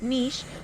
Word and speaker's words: niche: very Niche and yes the word Niche is pronounced Niche it can be pronounced Niche or Niche but the original pronunciation is actually Niche so some people try